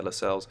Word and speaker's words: Lascelles: So, and I've been minded to pronounce his name a bit better. So yeah, Lascelles.